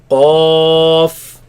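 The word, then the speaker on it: قاف: Okay, let's pronounce it as alif in the middle, ends with the fa sound. Qaf, Okay, so where does this come from?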